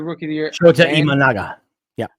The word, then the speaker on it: Imanaga: Shota Imanaga. Yeah. I always want to say a man gun.